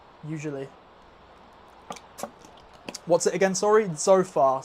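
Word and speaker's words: Tzofar: Zofar. So, it's it's spelled T Z O F A R.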